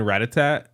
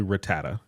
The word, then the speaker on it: Rattata: right cuz it's like I grew up saying Ratatat Ratatat but it's I think actually Rattata Rattata r i just say